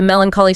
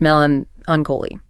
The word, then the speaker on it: melancholy: The example was the melancholy song brought back memories of a lost love and left her feeling blue. It captures that wistful quality. Oh, and it's pronounced melon ungolie. Melancholy.